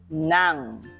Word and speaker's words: ng: say that for me NG is pronounced as Nang now okay so again